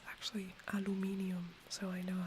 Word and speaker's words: Aluminium: in German it's actually aluminium so I know how to pronounce it properly but otherwise the Americans would be very confused so in German it's aluminium it's very similar so